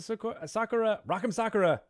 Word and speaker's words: Sakura: Or is this an easy way for you guys to pronounce it is like soccer ball or like your socks.